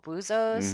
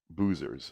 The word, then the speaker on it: Buzos: And Buzos is spelled B-U-Z-O apostrophe S. Buzos, which means divers. Yes. Possessive. Yes. Not boozers, as in drinkers.